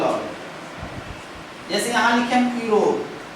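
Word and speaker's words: Europe: लेकिन इसको हम पढ़ते कैसे हैं, यूरोप। अब देखें आप कि ये वॉवेल है, लेकिन पढ़ कैसे रहे हैं, ये कॉन्सोनेंट से।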